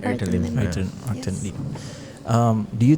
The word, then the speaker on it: Arvin Lim: I want to circle back to the issue, the case of I don't know how to pronounce his name. Arvin. Arvin Lim, right? Arvin Lim.